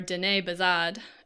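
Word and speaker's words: Diné Bizaad: Speaking of Navajo, or Dene Bazad, as it's known in its own language, I had a PhD student.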